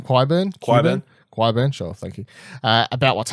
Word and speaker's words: Qyburn: Qyburn.